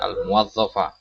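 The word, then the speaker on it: الموظف: Perhatikan cara bacanya, ya, al-muwazzafa. Jadi rata-rata antum keliru di sini. Al-muwazzafa. Ya, fathah di huruf wawunya.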